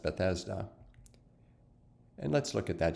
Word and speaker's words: Bethesda: is a pool called in hebrew it's normally pronounced bethesda and let's look at that just for interest